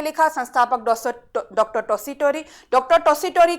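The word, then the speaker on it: Tessitori: ये ध्यान में रखिएगा, जब इंग्लिश में लिखा जाता है तो ये ट को वहां पे त भी प्रोनाउंसिएशन किया जाता है, तो आप घबराइएगा मत। टॉसी टोरी बोले या टॉसी टोरी बोले, बात एक ही है।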